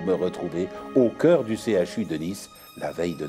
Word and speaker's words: CHU: Papa a dit qu'on doit prononcer toutes les lettres séparément, alors que la maîtresse nous a bien appris que C plus H égale CHE, comme dans chocolat ou chat.